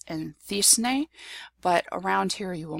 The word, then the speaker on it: cisne: So if you have, for example, a CE or a CI, the word will be pronounced, the letter C will be pronounced S. So for example, in the word cejas, which is eyebrows, or in the word cisne, swan.